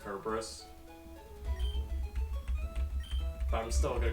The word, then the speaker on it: Cerberus: and the fact that cerberus's name is actually pronounced kerberos but i'm still gonna